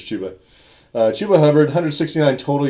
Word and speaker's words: Chuba: back for the Panthers is it pronounced chuba chuba I don't think it's chubba I always say chubba you see it you see it you think I'm pretty I'm pretty sure it's chuba uh chuba Hub 169